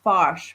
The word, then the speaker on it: Foch: Oh, it says that it's pronounced Foch, but if you're not careful, it can sound like the F word.